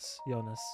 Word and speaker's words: Jonas: The J is pronounced Jonas.